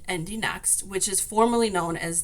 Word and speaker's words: IndyNXT: So, it's NXT, but it is pronounced Indie Next, which is formerly known as the Indie Lights series.